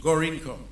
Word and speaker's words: Gorinchem: from Danim, Dashin shipyards, Gorinchem, Gorincom, or whatever it is pronounced, Gorincagm. They say it is pronounced Gorincom, at a cost of $1.5 million CIF.